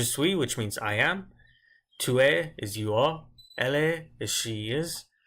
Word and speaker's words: tu es: I didn't say tu es. I just said tu es, where I just really pronounced the E.